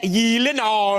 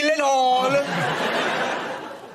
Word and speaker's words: Gyllenhaal: It is a Swedish name. So shouldn't it be like Gyllenhaal? Oh my God. I have to say, Gyllenhaal. the only two places that is pronounced correctly, my last name like you did just now, is in Sweden and in IKEA. And it's 8 episodes.